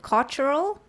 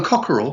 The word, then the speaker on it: Cochran: OVF and David Cochran I pronounced him cockerel do you pronounce it cultural no cockerel cockerel right so I got it right and this is the